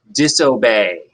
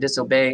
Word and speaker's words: disobey: to mind day and disobey how weird disobey is spelled e Y but it still makes the a sound at the end those are three words